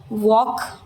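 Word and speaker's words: walk: जैसे टॉक L silent वॉक L silent टॉक यानी बात करना।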